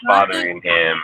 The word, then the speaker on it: Fotheringham: Fotheringham, I think that's how you pronounce it. Fotheringham. Oh, he was the one from Utah, wasn't he? Was he the one from Utah? Oh, it is Fotheringham. It's Fotheringham is what it is.